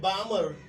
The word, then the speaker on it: Balmer: तो ऐसी पहली सीरीज जो है वो जे बामर, लिखा हुआ BALMERL, इसमें साइलेंट पढ़ेंगे, जे बामर 1885 में इसने हाइड्रोजन स्पेक्ट्रम के बारे में स्टडी किया और इसको नाम दिया गया बामर सीरीज।